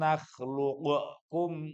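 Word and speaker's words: نخلقكم: Alam nakhluqukum. Nggak begitu bacanya.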